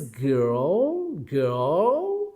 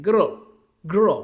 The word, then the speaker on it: girl: The English alphabet R is used after I. I is a vowel letter or a vowel sound. So it is pronounced as girl, girl, right?